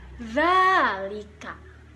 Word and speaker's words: ذلك: Tetapi kata za di sini harus diucapkan dengan lidah berada di ujung. Za, za, zalika.